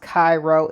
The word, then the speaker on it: Cairo: A house in Cairo. Not Cairo, pronounced Cairo, Illinois, but the real one.